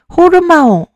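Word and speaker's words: ὁρμῶν: 이거를 발음을 하면은 호르마옹 발음이 되는 거예요. 그래서 호르마옹. 호르몬 비슷하죠?이 이 호르마온이라는이 이름에서 호르몬을 갖고 왔어요.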